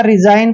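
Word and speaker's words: resign: ई एस आई जी एन इसको हम हमेशा रिजाइन पढ़ते हैं रिजाइन यहां पर अभी आप देख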